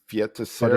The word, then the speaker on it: Feiticeira: Feta Sierra. Feiticeira. It's a Feiticeira. it's a Portuguese word that means sorceress.